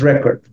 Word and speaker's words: record: done before and nobody ever done since that's record but now as I said when sometimes the